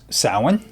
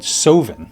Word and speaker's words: Samhain: It is pronounced Samhain. I say Samhain. Some people say Samhain. And some say, I've even heard it called Sovin.